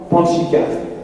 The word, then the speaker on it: Pantxica: Alors je dirais maintenant Panchika, tout simplement. Alors ça ne s'écrit pas du tout comme ça se prononce.